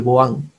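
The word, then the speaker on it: Bouin: es el líquido de boan boan se pronuncia pero se escribe boí eh algunos tipos de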